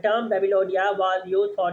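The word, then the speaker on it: Babylonia: लोगों के लिए हमने बेबोलोनिया babe बेबिलोनिया नॉट बेबी बेबिलोनिया बेबिलोनिया pronunciation नहीं होगा बेबिलोनिया बेबिलोनिया from about 1100 बीसी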